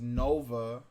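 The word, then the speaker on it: Knova: daughter her name is nova and the twist is her first name starts with a k so that means it's the k is silent heck yeah we have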